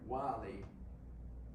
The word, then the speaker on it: Willie: So yeah, his middle name, it's spelled like Willie, it's pronounced like Wy.